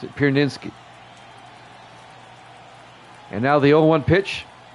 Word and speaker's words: Pierzynski: That's how you pronounce it. Pierzynski.